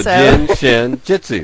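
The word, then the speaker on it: Jin Shin Jyutsu: around and he says the way you can remember how to say it is that if you drink too much Jin you might hit your shin and then you'll say a Jitsu okay got it so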